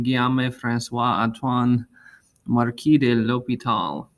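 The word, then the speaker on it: L'Hôpital: named after a french mathematician but uh yes pronounced something like l'hopital so i was pronounced it and i was named after this guy and there's his full french name guillaume francois antoine marquis de l'hopital like that so um he was french mathematician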